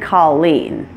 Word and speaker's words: Colleen: names follow this pattern names that come from languages other than English languages like French may stress the opposite syllable and my name is one good example of that Nicole it stresses the second syllable since it's a name that came from the French language other names that do this are Suzanne Monique Michele and Colleen so beware not all